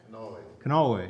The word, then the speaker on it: Kanawha: I remember and actually have a copy of the Holler String Band record on, however it's pronounced, Kanawha? Kanawha, yeah.